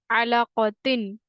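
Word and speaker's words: عَلَقَةٍ: So we have to like spell it ain zabar a, lam zabar la, a la, qaf zabar qa, a la qa, ta double z tin. So it makes the word alaqatin, alaqatin.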